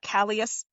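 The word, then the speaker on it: Kallias: Do you pronounce Kalas? Callas.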